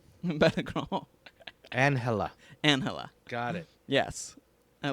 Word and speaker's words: Balagueró: Balagueró. Balagueró.